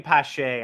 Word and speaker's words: Pache: People saying Pache. I like saying Pache just because it sort of rhymes with cachet and it flows a little better.